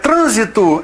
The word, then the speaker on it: trânsito: Trânsito é uma palavra que muda de sentido conforme a sílaba tônica, pois transito pertence ao verbo transitar, é o presente do indicativo. É o que a gente comentou lá a respeito da conferência, conferencia, a respeito de história, historia, Aí, no caso, trânsito, que é um substantivo, virou verbo transito, com a mudança dessa sílaba tônica, com a retirada do acento, não é?